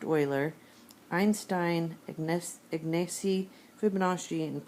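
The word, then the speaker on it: Euler: of people pronounce it uler but I look stood up one time and it's pronounced Oiler Einstein ignes ignesi Fibonacci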